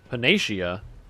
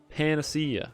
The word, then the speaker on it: panacea: works next purnae shia phoenicia that's not panacea what no it's panacea obviously come on penicia what an